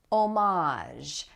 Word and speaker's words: homage: Homage. Now notice also that the H here is silent, and that's another thing that I did